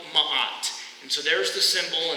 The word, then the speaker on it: ma'at: And they bring this concept called ma'at. And so there's the symbol, and that's how you pronounce it, ma'at.